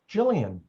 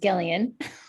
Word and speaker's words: Gillian: And I will choose Jillian. Hi, I'm going to trick you all. It's actually pronounced Gillian.